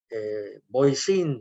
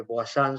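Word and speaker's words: Voisin: Boisín se escribe, Boisán se pronuncia el apellido del ingeniero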